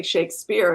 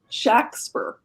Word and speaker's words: Shakespeare: Actually, it wasn't, as we say, Shakespeare. It was actually pronounced Shakespeare. That's the way it was spelled. Shakspear. or Shakespeare, like that, where there's a short A.